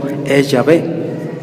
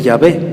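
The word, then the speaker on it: Yahvé: él ni los apóstoles el nombre correcto del antiguo testamento ella ve no sabemos por qué porque muchas tribus del norte del pueblo de israel siguieron pronunciando ellos siempre fueron fieles a esa pronunciación de llave del antiguo testamento el reino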